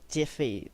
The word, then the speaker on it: GIF: Now when you next image type, that's going to be GIF or Jiffy, that is pronounced as, stands for graphics interface format.